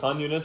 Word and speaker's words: Khan Yunis: Khan Yunis versus Tulkarem.